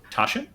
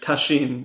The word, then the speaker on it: Tasshin: wisom today's guest is tashin is that how you pronounce Tash that is how I pronounce my name it would be tashin in Japanese but I'm an American so I mispronounce my own name uh Tasha welcome to